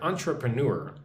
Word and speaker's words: entrepreneur: So, look at this word entrepreneur. Entrepreneur. Entrepreneur. Emphasis on the last syllable. So, how do you say this? Untra pre newer.